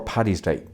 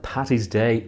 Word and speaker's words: Paddy's Day: Now, St. Patrick's Day or Paddy's Day, but never Patty's Day or Pat's Day or St. Patty's Day.